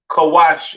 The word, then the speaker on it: Kush: have Kush all right Kush pronounced kawash in the Hebrew all right uh famous